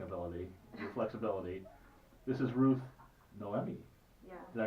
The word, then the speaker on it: Ruth Noemi: with your flexing ability your flexibility this is Ruth Noemi did I pronounce that right you did it okay and